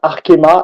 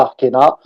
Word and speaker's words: Arkema: as bien prononcé Vincent c'est bien Arkema et non pas arquena donc la prochaine la